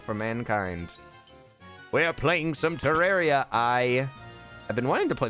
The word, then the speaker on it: Terraria: Terraria.